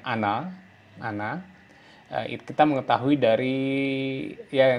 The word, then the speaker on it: Она: Terus ano, ano ini bacanya ana. Ana meskipun tulisannya ona tapi bacanya ana.